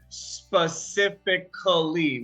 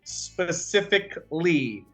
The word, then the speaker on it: specifically: pronounce this word here we do not pronounce the a sound we don't say specifically we say specifically specifically so we don't